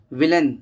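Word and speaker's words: villain: विलेन, जो कि विलियन लोग बोल देते हैं, विलेन।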